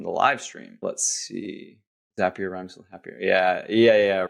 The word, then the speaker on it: Zapier: it zapier or zapier zapier it's apparently zapier because they they have the whole thing that Lis mentioned here zapier rhymes with happier as they say but